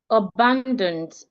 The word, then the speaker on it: abandoned: So take, for example, should I have the word abandoned? Abandoned. I'm stressing the second syllable.